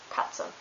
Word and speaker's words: Katze: And TZ is pronounced like Z in German. For example, Arzt, Katze.